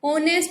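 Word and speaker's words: honest: तो कॉन्सोनेंट होता है, लेकिन प्यारे बच्चों एच यहाँ पर साइलेंट है, आवाज ओ की आई हुई है। ऑनेस्ट ओ की साउंड है, इसलिए यहाँ पर आर्टिकल एन का यूज किया गया है।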